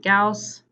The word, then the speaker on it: Gauss: an old mathematician and Gauss rhymes with house just so you know how to pronounce that okay so we're gonna